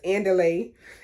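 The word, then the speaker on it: Andile: lay i can't remember but it sounded like i delayed what they said but i guess because my english accent it don't sound like them it's not like i'm saying underlay like in spanish you know under the underlayment oh but that's how they say his name y'all anyways underlay he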